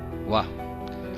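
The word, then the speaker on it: は: Que no hiragana é ha, mas aqui exercendo a função de partícula, ela se transforma em wa.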